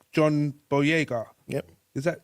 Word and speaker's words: Boyega: We have actors like John Boyega. Yep. Is that how Yes, you pronounce his yes.